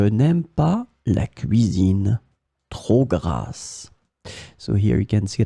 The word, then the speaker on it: grasse: In this lesson, we will discover together two words that are written differently but pronounced the same way.